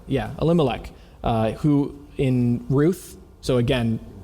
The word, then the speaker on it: Elimelech: Elimelech. Yeah, Elimelech.